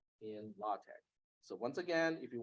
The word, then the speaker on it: LaTeX: it's from Greek so Tau Epsilon Chi is not pronounced as text it is pronounced as Tech don't ask me because